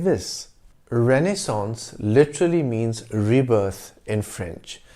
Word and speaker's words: renaissance: the word mispronounced as renaissance with a nasal vowel sound at the end the right pronunciation is renaissance in english the original french pronunciation is a renaissance the mispronunciation probably stems